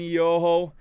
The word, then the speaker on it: Iyoho: your home ok thank you very much and yo ho our awesome scary to tell you pronunciate your name correctly did I say correctly